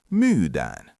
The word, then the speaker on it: myydään: Using that same long vowel logic at the end, it becomes myydään.